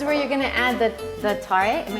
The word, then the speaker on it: tare: So this is where you're gonna add the tare.